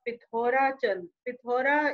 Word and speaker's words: Pithora: been founded by raja pithora is a local pronunciation of prithvi so the sanskrit word prithvi becomes pithora in the local dialect so in so the